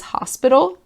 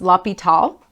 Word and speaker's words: L'Hospital: la PETA's rule so it looks like it says hospital but it's actually pronounced la pital so la PETA's rule